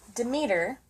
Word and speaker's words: Demeter: for the day so demeter which is pronounced how i said it is a greek goddess